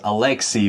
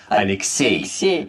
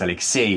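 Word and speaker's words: Алексей: In English, this name is pronounced as Alexey, but the stress is actually different. In Russian, the last syllable is stressed, so it's Alexey. Right, it's not Alexey, it's Alexey in Russian.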